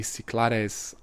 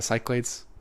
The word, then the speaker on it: Cyclades: And Naxos is the biggest island out of the Cyclades, or the Cyclades. I'll say both pronunciations to cover my bases.